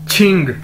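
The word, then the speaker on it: 请: Next word है हमारे पास QING छिंग। क्यू को हम छे के तौर पर, छतरी वाला छे के तौर पर प्रोनाउंस करते हैं, और इसका मतलब है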